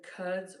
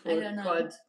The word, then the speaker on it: Quds: Pronounced closer to cuds or cuds, like the start of could.